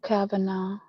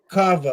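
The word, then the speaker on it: Kava: drinking beer and it's called um not Cabana. I'm saying it wrong, but they're making drinks of it. Cava.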